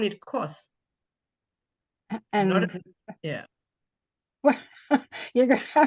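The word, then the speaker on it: kos: So if you put like a K-O-S-S, just like saying kiss, but it's K-O-S-S.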